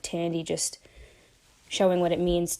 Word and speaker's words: Thandie: didn't even I apologize if I've said her name wrong. No I didn't even I didn't even notice but uh yeah her name's Thandie.